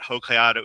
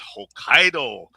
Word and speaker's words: Hokkaido: It's not Hokkaidato, it's Hokkaido.